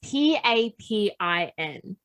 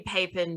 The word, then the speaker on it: Papin: the pepper christine it's p-a-p-i-n so it could be papen or papin technically it would be papen because there's no double p papen so the pieces